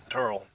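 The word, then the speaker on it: Terl: Terrell. It's spelled T-E-R-L, so it's...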